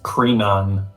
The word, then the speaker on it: Krinon: now foreign yeah i even mispronounced it it's krinon it was one that